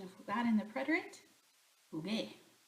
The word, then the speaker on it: jugué: We add, this is a gar verb, so we have to add the U so that we have the hard G sound, or else this G would make a H sound. So jugué, G, like the G in the original infinitive form, jugar.